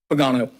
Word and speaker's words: Pagano: me nice italian name how do you pronounce it padano good evening pagano pagano thank you correct address